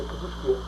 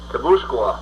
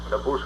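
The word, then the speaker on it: Guipúzcoa: Well, they're close to Kibuskia, too. I think that's... Yeah, say that again now. Kibuskia. Kabuskwa.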